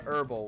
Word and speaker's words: herbal: were talking about something I pronounce it like uh herbal with a silent h D yo no way